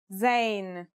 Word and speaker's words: zayn: a DOT on top in terms of pronunciation you say just like the English Z as in zebra or al-jazeera practice saying Al Jazeera